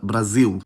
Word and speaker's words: Brasil: In Portugal, /l/ just becomes dark [ɫ] in those situations, while in Brazil, the allophone goes the extra mile and straight-up becomes [w]. I should also mention that I’ve heard dark L used as a phoneme before in Portuguese. Since both countries involved here end with L, I’ll just use them as the examples- we have Portugal and Brasil.